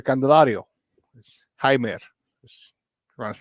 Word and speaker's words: Jaime: right before it they acquired third baseman uh jamer candelario Jaime just trying to say it properly Jaime canelario